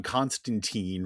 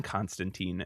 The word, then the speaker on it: Constantine: Rhymes with wine. John Constantine rhymes with weeen.